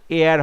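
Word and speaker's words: heir: এটা উচ্চারণ কিন্তু হবে হেয়ার হবে না এয়ার এইচ ই আই আর এয়ার মানে হচ্ছে উত্তরাধিকারী সিংহাসনের উত্তরাধিকারী উচ্চারণটা কিন্তু এয়ার হবে সো অপশন ডি ইজ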